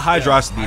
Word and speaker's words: Hydrocity: We'll be on Hydro City Zone. Thank you for pronouncing it correctly. Yes, not Hydrocity, it's Hydro City.